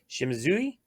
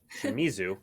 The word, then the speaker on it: Shimizu: another in our artist series special guest yuko shimazu wow i mispronounced that shimizu there we go uh four uh borderless cards